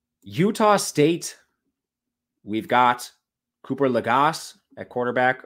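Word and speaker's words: Legas: We've got Cooper Lagasse at quarterback, or Laga, I think is how you actually pronounce it. Laga, if we're being fancy. That's how they say it on the broadcast.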